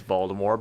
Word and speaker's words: Voldemort: No, Yeah, Voldemort is the correct way to say it now.